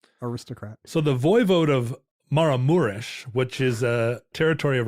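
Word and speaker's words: Maramureș: off them right so it looks like it's spelled maram marus but it's actually maramures but his name was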